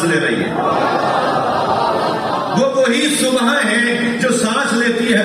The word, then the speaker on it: صبح: صحیح تلفظ ہے صبح، ہم اردو میں صبح کہتے ہیں.